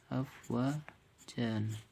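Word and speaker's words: أفواجا: Afwajan, tapi dibacanya afwaja.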